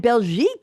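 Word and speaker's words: Belgique: in Belgian hair and Jack yes oh and belek is is how you say Belgium in French B LG I qu e so belic is Jack Rabbit isn't that interesting I thought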